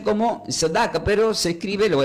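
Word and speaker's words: צדקה: en la palabra justicia, que del hebreo se pronuncia como tzedaka. tzedaka.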